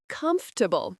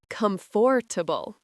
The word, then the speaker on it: comfortable: Yes, English drops sounds like comfortable, not comfortable.